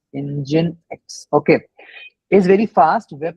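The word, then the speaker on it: nginx: I mean yeah so engine X is basically we pronounce it as engine X engine X okay is very fast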